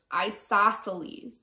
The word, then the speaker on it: isosceles: that an isosceles triangle this word is pronounced isosceles and finally this on